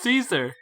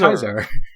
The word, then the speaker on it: Caesar: It's Caesar. I Like Julius pronounce Caesar. it Kaiser.